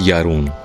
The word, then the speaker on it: Jarun: असल में ये लोग जे को वाई प्रोनाउंस करते हैं, तो जारून के बजाय इट्स यारून।